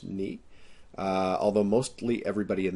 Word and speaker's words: nu: It is not pronounced new. It is pronounced ni.